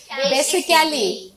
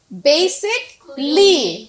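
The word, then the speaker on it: basically: বেসিক্যালি, Kelly বলতাম। আজকে থেকে সেই প্রোনাউন্সিয়েশনটা হবে বেসিকলি, রাইট? বেসিকলি।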